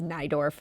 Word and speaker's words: Naidorf: should mention that CEO that's naidorf uh not neidorf I do too much